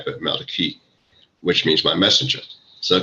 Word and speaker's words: Malachi: Book of Malachi uh most people pronounce it pronounce Malachi but Maliki which means my messenger so I come from